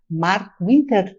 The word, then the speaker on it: Marco Winter: Muitíssimo obrigado por estar conosco no Itália Viva, acompanhado do chefe Marco Winter. Tá certo a pronúncia, tá, chefe?